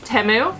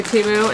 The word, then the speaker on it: Temu: guys know why um temu I'm an affiliate with them I always say tuu and say it wrong it's just a fun